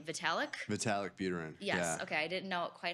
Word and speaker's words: Vitalik Buterin: Vitalik Buterin. Yes, Yeah. okay, I didn't know quite how you emphasized what syllables, but we had him on the show back in the day.